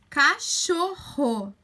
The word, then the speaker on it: cachorro: r só tá ó cachorro ó o rodo cachorro é forte então a gente precisa escrever com dois erres se a gente inscrever-se